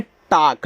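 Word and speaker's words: talk: देखो जब ए के बाद एल दिया हो और एल के बाद आपका के आया तो यहां एल आपका साइलेंट रहेगा। ठीक है? तो देखो इसको पढ़ते हैं टाक।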